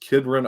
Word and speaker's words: Kidron: But the closest one to like you in Jersey is just Kidron, Ohio. I think that's how you pronounce it. Kidron, Ohio.